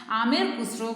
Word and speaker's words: Amir Khusro: Once again, listen how to pronounce. Amir Khusro, one of the greatest Persian writer.